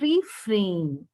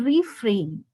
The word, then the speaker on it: refrain: It is refrain. Okay, look at the spelling. It is Refrain. Okay, it is refrain. There is a rain in refrain if you see, children.